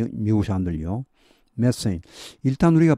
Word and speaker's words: methane: 이게 바로 이제 메탄가스 누출입니다. And its essential component. 이럴 때 그것의 필수적인 여기 컴포넌트는 구성 성분입니다. 자, 메세인 나오죠. 메세인. 이 발음은 메세인입니다. 메탄 하시면 아무도 못 알아듣습니다. 미국 사람들요. 메세인.